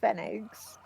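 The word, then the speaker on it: Pfennig: a I think it's I've heard it pronounced fenig figs but may be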